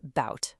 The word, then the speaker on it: about: In the word about, the stress is on about, right? So that a at the beginning gets lazy and becomes a schwah about.